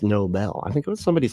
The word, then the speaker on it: Nobel: Yeah, a Nobel Prize, not a Nobel Prize. That's how Trump, I think, thinks it's pronounced, but it's not. It's Nobel.